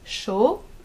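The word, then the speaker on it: chaud: in words for example show show which means warm or hot you don't pronounce the d at the end but if you want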